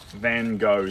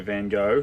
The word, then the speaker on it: Van Gogh: And for those who think you don't say Van Gogh like Van Gogh, you're right. That's how the Americans say it. If you want to say Van Gogh like the Dutch, you say Van Gogh. Van Gogh. Van. Yeah. So, but if you are American, I think the correct way to say it in America is Van.